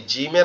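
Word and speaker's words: ج: কিন্তু এই জিমের আওয়াজটা একটু কঠিন হবে কেমন? দুই দাঁতের পাটি একসাথে চেপে লেগে থাকবে। জিম জিম জিম এরকম একটু শক্ত আওয়াজে পড়তে হবে।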